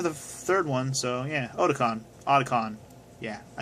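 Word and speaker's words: Otacon: games except for the 3rd one, so yeah, Otakon.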